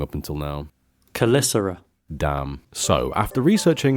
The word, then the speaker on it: Caelesti: Yeah, I've been pronouncing Caelesti wrong up until now. Caelesti.